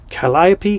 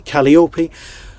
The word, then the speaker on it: Calliope: So how do you pronounce Calliope? Calliope, Calliope.